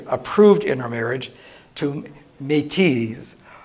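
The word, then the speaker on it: Métis: in her marriage to me tease the if you put in a z at the end which is really silent and is your French pronunciation but metis were have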